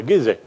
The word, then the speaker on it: Giza: But when we speak about the pyramids, we think, of course, about the Giza, or Giza, depending on the pronunciation, of the pyramid in Egypt, and especially, of course, the biggest one, the pyramid of Cheops.